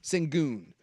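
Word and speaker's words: Şengün: you're done, this the the how do you pronounce his name again? Shenun. Shenun.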